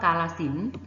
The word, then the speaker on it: กาฬสินธุ์: กำกับ นะ คะ เช่น คำ ว่า กาฬสินธุ์ นัก เรียน สังเกต นะ คะ ทอทง และ สระ อุ เรา ก็ ไม่ ออก เสียง นะ คะ เพราะ มัน มี เครื่อง หมาย ทัณฑฆาต กำกับ ไว้ ข้าง บน คะ คำ ว่า รามเกียรติ์